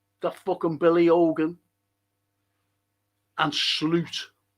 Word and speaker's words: Slot: ] Billy Hogan and Sloot that's how you pronounce his name by the way sloot Sloot the moot.